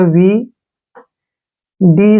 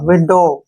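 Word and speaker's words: widow: आई से बन गया वी डी से बन गया ड और ओ का उच्चारण ओ के रूप में होगा क्लियर और डब्लू का उच्चारण जो है यहां साइलेंट रहेगा विडो क्या पढ़ेंगे इसको विडो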